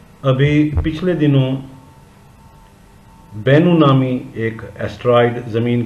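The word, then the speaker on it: Bennu: तरफ आ रहा है, जबकि इसका नाम बन्नू नहीं बल्कि बेनू था।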